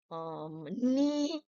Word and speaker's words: knee: Now, common silent letters. K. What do you think of K? Teachers, you all should know this before you teach the children, like knife, no, knee, knock, knock, who's there?